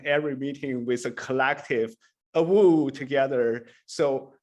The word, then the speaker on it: AWU: which is motion to a wu so obviously our acronym from union is awu and if you pronounce that that actually sounds extremely like a wolf holly so it has